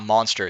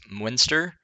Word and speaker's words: Munster: It's not Monster, it's Munster.